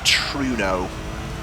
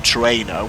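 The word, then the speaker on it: Trueno: for me the Sprinter truno or tro as I was corrected on its pronunciation um Sprint excuse me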